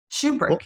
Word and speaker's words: Shubrick: about yourself I am I'm pronouncing your last name correctly aren't I shoe brick yes shoe brick uh shoe brick I